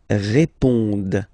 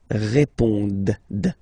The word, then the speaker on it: répondent: And then the last persons here, ils répondent. So same thing here, classic ending, ENT, but then you don't pronounce it. Okay? Répondent.